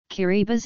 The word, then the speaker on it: Kiribati: never considered part of the tongue guru chain pronunciation differs key Reba's is the official pronunciation as TI in Kiribati